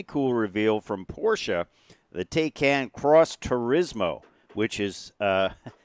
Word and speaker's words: Taycan: be talking about a really cool reveal from Porsche, the Taycan Cross Turismo, which is a really exciting-looking vehicle.